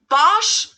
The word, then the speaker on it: Bosch: bosh i don't know americans usually say bosh while germans say bosh so the vowel is pronounced just a little bit differently here bosch bosch it's kind of